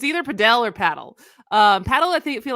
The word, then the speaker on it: padel: the US and I I think it's pronounced paddle it's p-a-d-e-l and so it's been